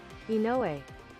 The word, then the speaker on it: Inoue: I'm gonna look up how to pronounce his name. Inoue.